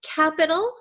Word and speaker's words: capital: a t here however we do not pronounce it in American English like a true T sound like T T we're